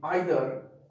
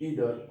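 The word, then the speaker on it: either: तो जी हाँ, तो यहाँ पे आइदर और नाइदर ब्रिटिश इंग्लिश है, जबकि इसका अमेरिकन प्रोनाउंसिएशन ईदर और नीदर होता है।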